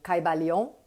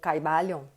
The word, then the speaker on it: Caibalion: nossa conversa sobre o Caibalion, ou Caibalion, enfim. Existem duas maneiras de falar, dependendo do lugar, cada um pronuncia de uma maneira.